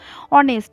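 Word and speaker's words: honest: ঠিক তেমনই অনেস্ট, অনেস্ট শব্দটাও কিন্তু এইচ দিয়ে শুরু হচ্ছে কিন্তু আমরা উচ্চারণ করছি ও এর মতন, অনেস্ট, সেই জন্য তার আগে অ্যান বসছে।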